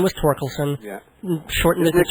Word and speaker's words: Thorkelson: Well, actually, the H is silent. It's Olson? No. Oh, it's Torkelson. Torkelson, yes.